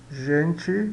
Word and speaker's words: gente: Gente, a gente pronuncia gente, né? Sempre como se fosse pronunciado CH de Sprache, palavra alemã, ou ich, né?